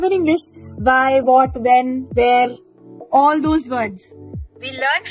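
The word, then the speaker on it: wer: Because the pronunciation is like the English word W-H-E-R-E.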